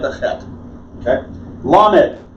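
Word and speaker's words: ל: Lamed. L as in lion.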